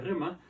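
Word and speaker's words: rhema: Vamos con la palabra llamada rema. R-H-E-M-A. Así se escribe, se pronuncia rema.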